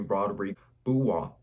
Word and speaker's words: Rodrigue Beaubois: So this dude coming out 6 foot, 40-inch vertical, 6'10" wingspan, and his name is actually Rodrigue Beaubois. Some people pronounce his name Beaubois.